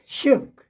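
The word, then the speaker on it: shook: Long उ लेकिन यहां जो है शुक एस एच डबल ओ के है तो यहां जो है यही ध्वनि डबल ओ की छोटा ओ की ध्वनि बना रही है।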